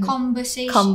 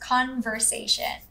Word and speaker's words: conversation: also conversation yes exactly it sounded like conversation conversation yes yes that's an m sound and then a b b sound so n to m and then v to b yes it should be conversation yes that's right and